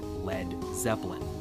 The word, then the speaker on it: Led Zeppelin: He removed the A so it wouldn't be pronounced lead, and that's where we got Led Zeppelin.